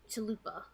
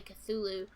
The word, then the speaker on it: Cthulhu: Cthulhu is and terraria I called him chalupa I didn't know how to say his name so I just called him Toluca for like two years until I heard someone say Cthulhu and that's how I